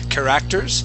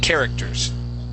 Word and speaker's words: characters: word characters okay so the accent goes at the very beginning so instead of saying characters it's characters okay characters good One